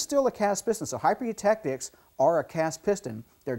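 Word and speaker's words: hypereutectic: This next alloy here is called a hyper-eutectic, high silicon hyper-eutectic piston. Let's all say that together, hyper-eutectic, okay? So a lot of people mispronounce that word.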